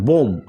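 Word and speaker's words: bomb: lamp আমরা কিন্তু lamp পড়তেছি ল্যাম্প এরপরে আছে বোম বোম এই যে এমটা বি এর আগে আসছে সো আমরা কিন্তু বিটা সাইলেন্ট করে দিয়েছি আমরা কিন্তু পড়তেছি আমরা কি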